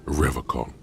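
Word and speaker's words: Revachol: He pronounces Revacon with a hard K.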